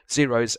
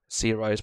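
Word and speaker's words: Xaero: which I showed you guys, which was the Zeros minimap. So in your search bar, just type in Minecraft Zeroes, which is spelled X-A-E-R-O, and then minimap.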